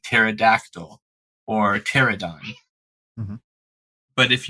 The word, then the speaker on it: pterodactyl: So you don't pronounce or very slightly, very mildly pronounce the P, and it totally changes the flow of the words.